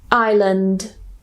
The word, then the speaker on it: island: The next one is island, island. This word has 3 possible ways to pronounce it.